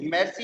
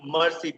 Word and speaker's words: merci: Merci is thank you. It is not mercy, please. Do not pronounce it mercy. It is merci.